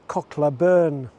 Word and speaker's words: Cocklawburn: End of cocklawburn beach however the locals here pronounce it cochlea burn with the name so